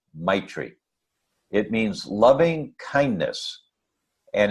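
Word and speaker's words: maitri: Tibetan word I believe the word is my tree I think that's how it's pronounced ma I TR I my tree it means loving kindness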